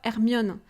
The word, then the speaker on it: Hermione: know in Harry Potter in France we are calling ermiono so really the difference between ermion and Hermione Hermione it's so different you know but I